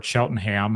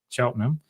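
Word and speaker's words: Cheltenham: On November 11th, 1880, she died of pneumonia in Chelenham, Pennsylvania uh or Cheltonham, however you want to say that. I say it like the English now because I'm living in Canada, so Chelenham.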